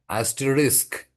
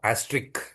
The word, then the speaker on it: asterisk: Yeah, there is a risk in its pronunciation, right? This is asterisk. This is not asterisk. This is asterisk.